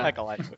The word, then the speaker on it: Peckle: Peckle. Yes. Am I saying his name wrong? No, you're saying it right.